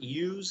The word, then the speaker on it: USE: This is not use cable. You don't pronounce it use. It's underground service entrance, USE.